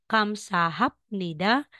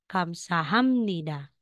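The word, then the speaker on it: 감사합니다: yung bigkas natin so Instead na sasabihin mong kam sah Nida magiging Kamsahamnida pero yung spelling ito pa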